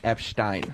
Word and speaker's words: Epstein: I know and also for the record it's pronounced Epstein Epstein Epstein oh okay that's different